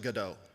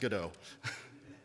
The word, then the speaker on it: Godot: object-oriented uh pretty straightforward API integration and it's pronounced GDAU. I will fight anybody who says otherwise. It is pronounced GDO.